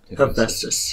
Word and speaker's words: Hephaestus: Hephaestus. Hephaestus, okay, just make sure.